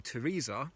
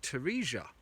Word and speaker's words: Teresia: this way, and that people have always called you Teresa, though it clearly doesn't look like that. And I said, well, Asia is A-S-I-A. Surely your name should be pronounced Teresia.